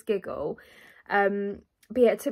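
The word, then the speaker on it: Gigil: think they're called giggle i think you pronounce it giggle it's g-i-g-i-l so i think it's giggle um but yeah it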